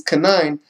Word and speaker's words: Canaan: It says some of the sons of Canaan, so you say his name how it's supposed to be, is Canaan, have the same name as some of the descendants of Enoch, who was the son of Arba, or Arbai.